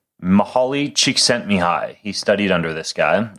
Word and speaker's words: Csikszentmihalyi: How do you pronounce this fellow's last name, Mark? Csikszentmihalyi. Mihaly Csikszentmihalyi.